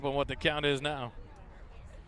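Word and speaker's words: Ngo: Spelled N-G-O. Pronounced No.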